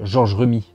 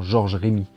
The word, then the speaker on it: Georges Remi: pas fait hergé s'appelle georges rue me mets beaucoup de journalistes le présente en disant georges remi comme s'il y avait un accent aigu comment vous appelez-vous hergé